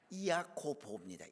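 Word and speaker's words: Ἰάκωβος: 우리 화면에 나와 있지요 자 야고보 헬라어로는 이야코보입니다 이야고보 예수할 때도 있자는 약하게 발음하고 예수수라고 예수를 발음하듯이 야고보다 예수 쓰라고 보라고 발음을 합니다 이건 어디서 왔냐면 그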